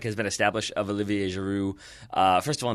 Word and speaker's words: Giroud: been established of Olivier Giroud. First of all, not having his D pronounced, got that one down.